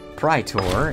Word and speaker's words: praetor: Okay, so our praetor, or praetor, if you're looking for the actual Latin pronunciation, is actually reducing our aggressive expansion.